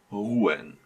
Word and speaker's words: ruhen: Again, here ha is in between two vowels, u and e, and you have at least slightly pronounce it. So ruhen.